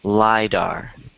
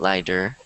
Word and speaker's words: lidar: it's telling me that it's pronounced lidar so if you guys want um pronounce this after me lidar my bar why do good and don't instead of saying derp sadar because it's dar so you want to say lidar not lighter because otherwise people might